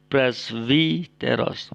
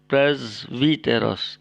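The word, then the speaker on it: πρεσβύτερος: di lain kesempatan Oke huruf Sigma akan dibaca atau diucapkan Z jika ikuti konsonan bersuara kyaknya ada contoh Hai Dek Sigma Wita Akan diucapkan zv contoh kata yang sering kita temukan brazeros brazeros Oh ya brazeros artinya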